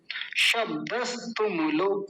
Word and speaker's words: शब्दस्तुमुलो: तो ऐसा ना करके पता है क्या करें, शब्दस, क्योंकि यहाँ रुक जाएंगे, हलंत लग रहा है, आधा है स। तुमुलो, ये आसान है, तुमुलो बोलना, तुमुलो। शब्दस तुमुलो, शब्दस तुमुलो।